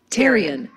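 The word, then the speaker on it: pterion: region pan No tyon even though it starts with a P let's pronounce that teron now te PT R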